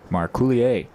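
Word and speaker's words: Marcouillier: weight as early as we are in So Marulier stands in. That's M A R C O U I L L I E R. Marouier. I'm just glad you pronounced the name before I had to try.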